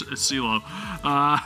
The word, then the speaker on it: CeeLo: It's not pronounced cello, right? It's CeeLo.